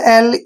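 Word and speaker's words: alley: एल ई वाई देखिए इसका उच्चारण कैसे करेंगे ए को हमने क्या लिखना है है ए और डबल एल का उच्चारण हम ल करेंगे और ई वाई को यहां पर बड़ी ई की मात्रा रीड करेंगे क्लियर एली एली होता है दोस्तों तंग गली मतलब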